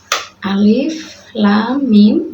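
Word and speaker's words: الم: kita ke contoh-contohnya contoh yang pertama yaitu Alif Lam Mim Ya seperti ini Alif Lam Mim Alif itu cara membacanya tidak dibaca panjang dibaca panjang 6 harokat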